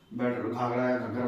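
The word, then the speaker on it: घग्गर: battle offer battle of spelling देख लेना घगर बोलते हैं ये हुआ था हमारा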